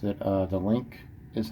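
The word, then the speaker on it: LINQ: I think you pronounce it. The Link is how you pronounce it.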